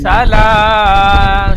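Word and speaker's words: سلام: সালামুন হিয়া হাত্তা মাতলাইল ফাজর। সালাম খাড়া যাবার এক আলিফ টান দিয়ে বলেন সালাম।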